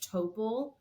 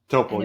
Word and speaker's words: Topol: Am I still sad that I've never fully known how to say this man's name, but I've always said Topol. Topol, yeah. It is Topol. Oh yeah, I think it's Topol.